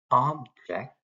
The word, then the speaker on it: object: We emphasize here object, we emphasize the word ob, we put this slash thing as emphasizing it or stressing it. We use you for de-stressing it. So there are 2 syllables in here. First syllable is stressed. The other syllable is unstressed.